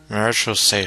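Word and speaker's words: Marechaussee: a group known as the marose hunters marital say Hunters so that's how you pronounce that word now though watch I'm going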